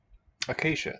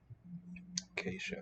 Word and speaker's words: acacia: Acacia, thank you. Excellent. The S, Y have fused into a single sound, sh. We say that E in the last syllable has palatalized the consonant before it. Acacia.